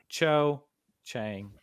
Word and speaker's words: Cho Chang: the thing I can actually say it so Cho Chang their date was terrible and awful let's just